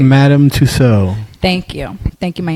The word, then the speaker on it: Madame Tussaud: figure a Beyonce from madam sustains or whatever sue says what is it I forgot I pronounced it Madame Tussaud thank you thank you